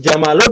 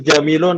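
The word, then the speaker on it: جَمَل: Jadi jamalun ya jamalun. Jangan antum rubah menjadi jamilun atau jumulun. Tidak bisa. Kalau kita ngomong buku diganti jadi buka kan beda.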